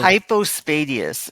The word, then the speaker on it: hypospadias: Is it common the hypo how do you pronounce it? Hypo hypospadius.